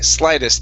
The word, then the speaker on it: slightest: the s so sly slightest the gh is silent here slightest slightest okay uh